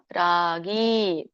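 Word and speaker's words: ರಾಗೀ: ಪರಿಕೀರ್ತಿತಹ ಹರೇ ಕೃಷ್ಣ ಇದರೊಂದು ಉಚ್ಚಾರಣೆ ರಾಗಿ ರ ದೀರ್ಘ ಗಿ ದೀರ್ಘ ರಾಗಿ ಕರ್ಮ ಫಲ ಪ್ರೇಪ್ಸುಹು ಫಲ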